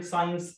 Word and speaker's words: science: في قاعدة بتقول لي خد بالك اي اس وراها سي وراهم حرف الاي او الاي او الواي الاي او الاي او الواي اوعى تنطق الاس تكون سايلنت.